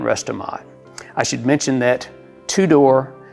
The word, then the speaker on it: Tudor: I should mention that two-door is spelled t-u-d-o-r and you would think